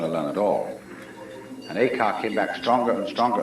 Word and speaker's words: Eka: Eka is Japanese pronunciation, like Zen is the Japanese pronunciation of the Chinese Chan.